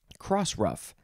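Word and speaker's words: crossruff: is one word yes it is the word rough but it is spelled like the dog ruff r-u-f-f cross ruff noun from 1862 a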